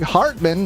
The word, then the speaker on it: Hartman: Greg Hartman, not Cartman, in 26th.